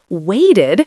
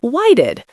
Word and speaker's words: waited: Waited sounds like waited. The T here often becomes a quick D sound in fast speech. Whited.